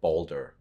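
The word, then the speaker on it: Baldur: and God of War Ragnarok they prounce him Boulder and in that's and spell it b a l d u r right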